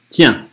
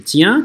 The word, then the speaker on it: tiens: Tiens, читаем как N-осовую. То есть не tien, а tien, tien, N-осовая. Tiens, le voilà justement qui part pour la chasse.